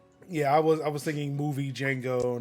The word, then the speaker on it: Django: And I'm like, okay, if you think it's spelled with the silent D, then I know what you think of me already. So Yeah, I was thinking movie Django, not framework Django, but Yeah.